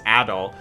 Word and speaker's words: Adol: after um a uh adult sorry we learned the pronunciation it's adol uh and doki left